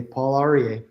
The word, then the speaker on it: Paul Aryeh: I'm here with Paul Aryeh, and I'm sorry, I'm sure I'm mispronouncing your name. Do you want to go ahead and share All it with right. us? You said it perfectly, Paul Aryeh.